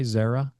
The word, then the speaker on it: Xiara: Am I pronouncing that correctly, by the way? Xiara? Yes. Yes. Okay. That's correct.